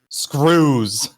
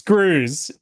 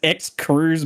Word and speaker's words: Scroos: It is Screws. That's right. It's Scroos. Listen told me yesterday. He's like, ", by the way, you're the one who's been pronouncing my name right. None of this ex Cruz business." Like, what? Exuse. What sort of name is that?